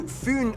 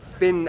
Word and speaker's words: Fyn: It is connected to Fyn Island, not Finn Island, by the Great Belt Bridge completed in 1998.